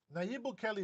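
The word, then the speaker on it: Nayib Bukele: I hate it when people mispronounce his name. Uh Naib Bukelli is very important and I think that he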